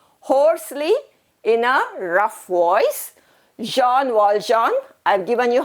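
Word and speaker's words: Jean Valjean: in a rough voice jean walljohn i've given you how to pronounce it to be pronounced as jean wall john that's the name of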